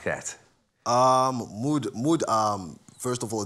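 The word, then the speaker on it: MUÜD: How do I pronounce it? Mood? Yes. Mood.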